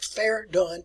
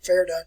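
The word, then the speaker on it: Verdun: fairgone that's where it's pronounced just like fair dunn fair done fair done on the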